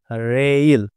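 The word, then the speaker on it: rail: দিয়ে বিষয়টা বুঝে নিব উদাহরণ রেখেছি হচ্ছে আর এ আই এল রেইল রেইল খেয়াল করুন তো আমরা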